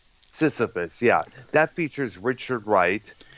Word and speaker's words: Sisyphus: Sisyphilus, I think that's what it's Sisyphus. pronounced. Sisyphus, yeah, that features Richard Wright.